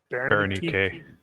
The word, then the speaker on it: Ronnke: Ronnke.